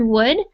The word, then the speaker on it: would: to mention the word would i know that it has an l in there but we actually don't pronounce it so we just say